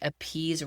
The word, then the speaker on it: appease: talking about it, and we kind of just think appease rhymes with people please.